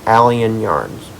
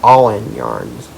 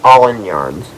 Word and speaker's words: All In Yarns: Guys, I was pronouncing it Allen Yarns. Well, I was wrong. That is not how you pronounce it. It is pronounced All In Yarns.